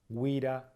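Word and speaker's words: güira: Cuando hay letras como, por ejemplo, g, ue, decimos ue, no decimos ge como en español. Entonces, por ejemplo, tenemos el wira, wira, ¿sí? No decimos gira, gira, es wira, wira.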